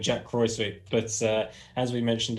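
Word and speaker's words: Jacques Kruyswijk: um you're going to jacques cruzwich i believe is how you pronounce it was that okay i mean i'm going to hash it up anyway i always call him jack croy sweet but uh as we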